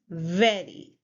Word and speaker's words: very: The next word is very. Very. Now the problem is that many Serbians cannot differentiate between v and w. V and w sound. So here it's v sound. So you'll say very. Very.